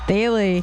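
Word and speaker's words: Thile: Daily. We now know how it's pronounced.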